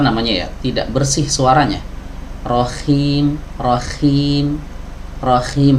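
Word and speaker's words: رحيم: ya tidak bersih suaranya Rohim Rohim Rohim harusnya bersih Rohim Rohim Rohim Ya jangan Rohim Rohim Ya silakan nanti teman-teman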